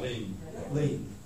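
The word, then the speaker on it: lien: follow that up with a commercial, is it Lean or Lions? I don't know how you pronounce that. Lean. Is it a commercial lion? Oh, Lean, sorry.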